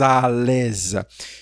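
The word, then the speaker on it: à l'aise: Observe que aqui nós temos uma ligação paz com som de paz alesa que tu nesa mais uma vez que tua.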